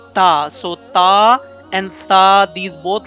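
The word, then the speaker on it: ث: about this letter so the point of pronunciation of this letter is by touching tip of the tongue with the edges of your upper front two teeth in the previous lecture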